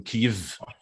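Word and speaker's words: Kyiv: There is pressure that supermarkets change Chicken Kiev to Chicken Kiev, because apparently we have to say it like the local reference now.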